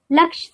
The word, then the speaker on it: लक्ष: Laksh soap. Laksh rhymes with Lux.